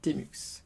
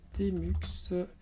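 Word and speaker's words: tmux: Ici nous allons commencer par un que j'aime beaucoup qui s'appelle Temux. Ça s'écrit T-M-U-X.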